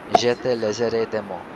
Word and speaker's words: Je te laisserai des mots: The third piece that she's playing is called Je te laisserai des mots. Am I pronouncing it right in French?